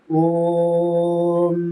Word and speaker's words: ஓம்: எப்படி ஓம் மகாரம் சொல்றது, ஓம் ஓம் ஓம். முதல்ல இந்த மகாரத்தை சொல்லும் போது என்ன பண்ணுங்க, பல்ல வந்து பிடிச்சுக்கிட்டு சொல்லுங்க, பல்லு வந்து கடிச்சுக்கிட்டு சொல்லுங்க. ஓம்.